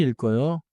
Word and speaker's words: 읽어요: 천천히 읽어요. 자연스럽게 읽어요. 읽어요. 좋아요. 읽어요에서는 리을 소리가 앞음절에 남고 기억 소리가 다음 음절로 이어져요.